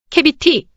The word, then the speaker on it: cavity: 캐비티 캐비티는 구멍 비어 있는 공간을 의미합니다. C가 A 앞에 오면 C는 K로 발음됩니다.